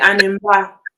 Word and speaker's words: animba: That's how you say it, animba, Yes, I just say animba.